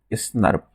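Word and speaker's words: snRNP: Nucleo protein, जिसे हम लोग प्रोनाउंस करते हैं स्नर्प। क्या प्रोनाउंस करते हैं?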